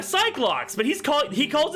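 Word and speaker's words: Psyche-Lock: how it's spelled is are they not psycho locks all right they're they're psych locks but he's calling he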